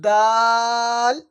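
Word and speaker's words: دال: হা তারপরে খ নরমাল খ জিব হা খ তারপরে দাল দাল এই দালটা অনেকেই ডাল বলে ফেলে ডাল ডাল হবে না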